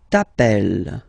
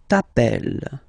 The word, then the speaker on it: t'appelles: Second form, tu t'appelles, okay? Remember, final S not pronounced, tu t'appelles.